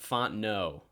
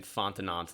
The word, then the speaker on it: Fontenot: Oh, it's pronounced Fontenot. Yeah, I was saying Fontenot like a moron.